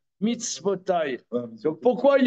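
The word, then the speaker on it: מצותו: Ça se prononce mitzvotai, mais c'est écrit mitzvato. Pourquoi l'auteur, dans Vaetranan, chapitre E, Pasuk Yud, pourquoi mitzvato? Ça devrait être mitzvotai. D'ailleurs, ça se prononce mitzvotai.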